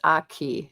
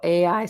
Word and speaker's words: Aigi: person said their their name that I was mispronouncing their name is Aigi. It's Gaelic. Oh, okay. So, Aigi. So, for people if you want to talk to this person, it's Aigi. A I G I is Aigi.